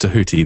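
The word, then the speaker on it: Djehuty: She eventually channels Thoth, which is actually pronounced to Huti, the old Egyptian pronunciation.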